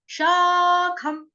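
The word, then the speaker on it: शाखम्: उसके बाद शा, श के आगे क्या, स्वर को आपको थोड़ा सा दीर्घ करना है। क्यों? क्योंकि आ की मात्रा ना, शा, शाखम, खम, खम।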